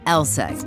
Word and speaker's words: LSEG: Take ours for instance, pronounced Elsa, aka London Stock Exchange Group.